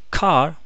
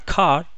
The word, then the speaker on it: car: Cuando yo les digo la palabra car, la palabra car, ustedes ya les dije que tienen que acostumbrarse a pronunciarla sin la R final, sin la R, omitir la R y alargar.